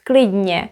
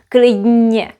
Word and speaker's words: klidně: You also might have noticed that I pronounced klidně with a j. Klidně, klidně. It sounds as if there was a j. It can sound like that because of this combination. Klidně. In an ideal world, it would be pronounced as klidně, klidně. And because people speak fast, it would usually come out like this. Klidně, klidně, klidně. Both are okay.